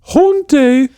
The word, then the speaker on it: Hauntë: Haunté rhymes with Brontë, sort of.